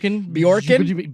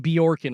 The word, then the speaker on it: Bjorkgren: I think the J and the B are kind of together. The J is silent. Bjorkgren? Bjorkgren, I Yeah.